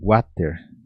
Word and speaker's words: water: Porém, no Paraguai a gente usa também como water. O pessoal fala exatamente assim. Só que aí você usa essa pronúncia do water como se fosse G-A-U e não U-A, igual do Brasil.